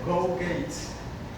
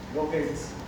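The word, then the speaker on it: Gow-Gates: Y se llama la de Go Gates. Se escribe G-O-W y Gates como puertas en inglés. Go Gates.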